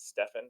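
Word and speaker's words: Stephen: um by the way he spells his name the same way I do but he pronounces it Stefan so it's really killed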